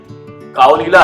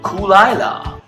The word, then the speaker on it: Caol Ila: I think this is what you looking for, कूल आइला। कूल आइला? आइला? क्या बताएं, pronunciation के चक्कर में ऐसी नाक कटी कि बस।